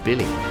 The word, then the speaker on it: Willy: by former german chancellor willie brandt pronounced billy however if these